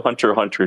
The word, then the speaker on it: Hunter x Hunter: it it's actually a hunter hunter the x is silent just it's where the